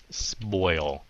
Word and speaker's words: spoil: Spoil. So các bạn cứ đừng có ngại miệng, sợ phát âm nghe nó giống hai âm, mà thật sự mấy cái âm này nghe giống hai âm lắm.